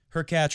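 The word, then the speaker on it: Hurkacz: lose last year vavrinka her cat rhymes with latch and uh big kevin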